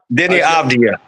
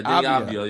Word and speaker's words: Deni Avdija: Deni Avdija. Okay, Deni Avdija.